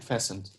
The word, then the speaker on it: fastened: her correct mind you this one is fencing not fast them the T is silent yes fastened okay very good everything